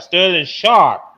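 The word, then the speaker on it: Sterling Sharpe: I'll make sure I pronounce his name right. Sterling Sharp.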